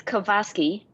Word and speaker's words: KOVASKY: Could you pronounce it for us? It's KOVASKY.